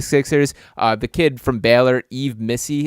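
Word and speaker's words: Yves Missi: the kid from Baylor, Yves Missy is the way you pronounce his name.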